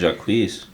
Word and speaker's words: Jacquees: I fuck with Jacquees. Mm-hmm. He's good. I feel like that's how you say his name.